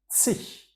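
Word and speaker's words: zig: the end, and please pay attention to my pronunciation, sich.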